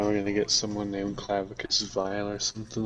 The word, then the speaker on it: Clavicus: It's pronounced clavicus. Yeah, the dog pronounced it Clavacious, I think he did. I think I remember that. but the actual I looked up the audio logs. The dog said Clavacious, but the guy said Clavicus.